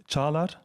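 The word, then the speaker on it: Çağlar: Maybe just to correct the pronunciation of my name, I know it's since my childhood, it's a thing. It's Caglar. Caglar? Yeah, it's Caglar.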